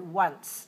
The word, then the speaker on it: once: also have the word once w no w w sound but the letter is o o n c once